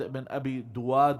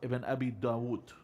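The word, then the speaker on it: Ibn Abi Du'ad: There was one of the main judges, Ahmad ibn Abi Duwad or ibn Abi Dawood. It's Ibn Abi Duwad, generally it's pronounced as.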